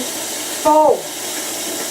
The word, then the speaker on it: Pho: Pho. Can you spell it?